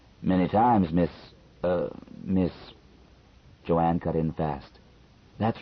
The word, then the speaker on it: Joan: names do you think Joanne spelled j o a an but pronounced as two syllables would be a good